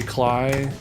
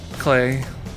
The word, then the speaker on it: Klei: just it's so perfectly cly that clay I don't know why I said client I'm thinking of the